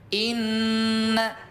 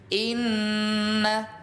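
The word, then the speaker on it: إنّ: Inna, betul bunda Sugimah, dengung 2 harokat. Inna 1, 2. Awas ya bunda, jangan lebih jangan kurang.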